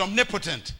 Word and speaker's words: omnipotent: create a new word it's the word Omni poent we pronounce it omnipotent it's the name God